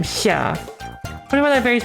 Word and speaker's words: Xia: So how it's more like you're trying to say S and sh at the same time. Xia.